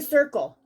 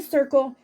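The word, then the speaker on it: Cirkul: so go get us go get a circle okay it's spelled c-i-r-k-u-l if you can't see that go get a circle start drinking your water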